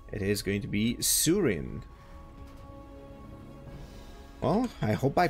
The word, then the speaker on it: Sooreen: is going to be Surin well I hope I pronounced this correctly so double o w e means uh Surin it's gonna be the pronunciation in my mind and once again we